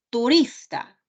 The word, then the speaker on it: turista: Turista, el acento está en la penúltima sílaba.